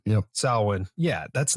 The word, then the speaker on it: Samhain: How do you pronounce it properly, JJ? Samhain? Samhain. Yep. Samhain.